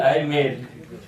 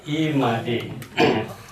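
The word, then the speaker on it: I Made: ये मुझे शायद ये अजीब सा लगता है जब अंग्रेजी में लिखते हैं आई मेड, लेकिन उच्चारण है ई मादे।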